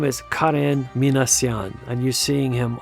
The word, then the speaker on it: Karen: It's not Karen, but Karen. There is no Karen in Armenian, so it's only Karen.